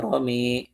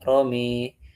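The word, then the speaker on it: رمى: Yang pertama kata rama ya. Wama ramaita id ramaita wakinnallaha romi gitu. Dibacanya apa? pakai romi.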